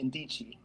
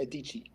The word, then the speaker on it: Adichie: There was a Nigerian writer, I can't pronounce the name. I think her name was Ngozi Ndichie. I'm sorry, Chimamanda Ngozi Adichie.